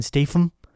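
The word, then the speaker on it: Statham: Rose who's Jack and I think you're mispronouncing Jason's name it's Jason Stam Jason Stam St Jason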